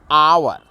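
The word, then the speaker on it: hour: एच ओ यू आर आवर ये etch तो है आपका कंसोनेंट है लेकिन इसका प्रोनसिएशन उच्चारण जो हो रहा है यह आपका स्वर वर्ण से हो रहा आवर जिस कारण से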